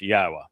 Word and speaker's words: Yahweh: It begins Yahweh and that is the proper pronunciation of the name of God as directed